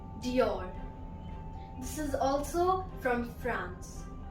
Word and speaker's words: Dior: The next word is Dior. Dior. This is also from France. Next one is from Italy and it is pronounced as Versace.